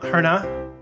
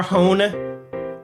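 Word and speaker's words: Hohne: was Savannah fantasy by Carl herna or hone h-o-h-n-e if you are an American some of these names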